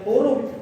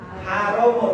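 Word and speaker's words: حُرُم: sudah ada empat yang hurum jangan salah baca minha arbaatun hurum itu dari 12 itu ada empat yang istimewa hurumun istimewa tapi kalau salah dibaca minha arbaatun haromun artinya terlarang Maka jangan salah baca Nggih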